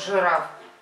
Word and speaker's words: жираф: Вот такой вот жираф. Давай, буква Ж. Жук, смотрите. Мы напишем слово жук. Жук. Да? Жук. Жук. А вот это жираф. Жираф. Жираф. Жираф. Жираф. Жираф. Слышится «ы», пишется «и».